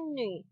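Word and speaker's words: 女: Tulisan ini bacanya nü.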